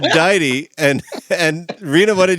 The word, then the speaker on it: deity: I'm in I'm listening we're arguing over how to pronounce the name cuz I said de and then no you said you said Dei that works and I said DIY and and Reena what